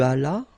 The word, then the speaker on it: allas: J'allais, tu allas, remember final S is not pronounced, il alla, elle alla.